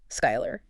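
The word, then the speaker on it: Schuyler: Is it Skylar? Yes, it is pronounced Skylar, but not from Hamilton.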